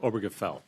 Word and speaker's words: Obergefell: Obergefell.